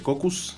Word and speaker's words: Caucus: y hasta la próxima cocus se escribe caucus Pero se escucha en